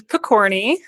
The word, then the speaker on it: Pokorny: memory of money so my name is Pokorny as was well pronounced and I am formerly